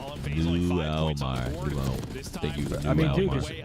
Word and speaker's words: Mulmar: Shouts out from the DMV, pronounced Mulmar.